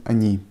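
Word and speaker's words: они: we already talked about this is how to pronounce Ana and Ani can you hear how I pronounce Ana and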